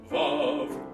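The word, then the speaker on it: Vauv: Vav is the name of our new magic powder, spelt V-A-U-V, pronounced Vav.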